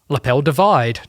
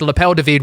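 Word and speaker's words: L'appel du vide: the end of last year, and it's called Lapel David. I'm glad you pronounced it. I wasn't. Yeah. Well, I've had so many. Lapel Divide. It's Lapel David, which is the call of the void.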